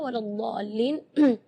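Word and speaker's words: وَلَا الضَّالِّينَ: Terus setelah waladhdall di situ ada huruf lam yang ada di atasnya ada tasydid. Itu seringkali ketinggalan waladhdallin. Nah, itu berarti tidak ada tasydidnya. Waladhdallin.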